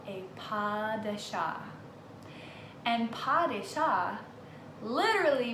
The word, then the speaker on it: pas de chat: He was giving everybody a lesson on how to say pas de chat. People were remembering it by pass the cat because the way it's spelled, P-A-S-D-E-C-H-A-T, kind of looks like it says pass the cat.